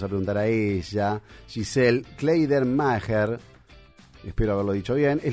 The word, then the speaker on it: Kleidermacher: Buenos días, y pronunciaron bien mi apellido, gracias. Kleidermacher, ¿está bien? Es difícil. Está bien, Kleidermacher o Kleidermacher.